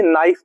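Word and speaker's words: knife: next है इसको देखिए नाइफ पढ़ेंगे इसको नाइफ पढ़ेंगे इसमें के साइलेंट होता है के क्या होता है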